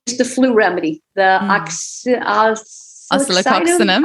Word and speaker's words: Oscillococcinum: My other remedy that I probably share the most with people is the flu remedy, the oscillococcinum.